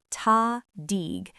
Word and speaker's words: tahdig: Pronunciation, tahdig.